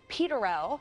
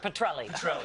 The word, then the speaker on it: Petrelli: reboot and you might remember him from Peter peterel the nurse turned Petrelli Petrelli dude I mean how many times can I mispronounce no it's it's it's easy it's easy